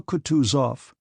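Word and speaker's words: Kutuzov: said Anna pavlovna General coutu off said bonsky speaking French and stressing the last syllable of the general's name like a Frenchman has been pleased to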